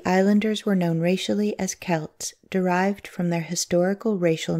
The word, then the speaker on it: Celt: kimrie Cal TOI Celt the letter C began to substitute the letter K in spelling the name but the pronunciation is the same even in those remote